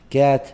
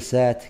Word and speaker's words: cat: كات، ما نقول سات، كات.